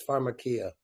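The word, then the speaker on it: farmacia: witch doctors looking for the proper pronunciation yeah it's pharmacia and if you've ever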